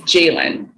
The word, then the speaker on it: Jailyn: At 22, I started telling the baristas at Starbucks how to say my name-- my real name-- and how to spell it correctly. It's Jailyn-- J-A-I-L-Y-N.